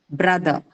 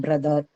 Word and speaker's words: brother: Brotherhood simpler so again in Indian English people do completely articulate the sound at the end like brother and father mother sister but you will say that in the prominent varieties people do not do that it's usually the schwa sound that ends within all these words said brother uh simpler